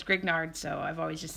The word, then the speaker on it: Grignard: reagents thus far and i know that i'm not pronouncing this correctly because it's French and I'm sure it's like green yarr something like that but it seems to me like it says grignard so I've always just